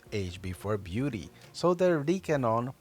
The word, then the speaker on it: Rikenon: start off with age before beauty so there Deacon on P by V Co is a Japanese lens that is just actually pronounced Deacon on so that's how I'm gonna pronounce it for